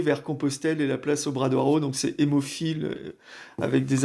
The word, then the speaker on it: Obradoiro: Obradoiro, c'est la place de la cathédrale à Compostelle. D'ailleurs, je prononce mal, moi je prononce à la française, c'est Obradoiro, Obradoiro.